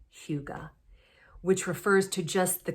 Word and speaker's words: hygge: the the hyuga h-y-g-g-e which i did look up how to pronounce that and that is pronounced in english as huga which refers to just